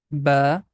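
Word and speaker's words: باء: The next letter is ba. We can also write down here. It's very easy. Starting with letter B, like that, we are going to pronounce ba.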